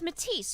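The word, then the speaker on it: Metis: And this Matise is spelled M E T I S. Not Matise like the Nik Matise. Yes, Charlemagne. Sounds the same, but it's different.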